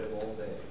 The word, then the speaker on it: Volney: I tried to say it like a French accent. It's like Steve Martin, because you can speak any language, just speak English with the accent.